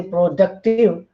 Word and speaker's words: productive: But when we say productive, then the stress is on second syllable, productive. Fine.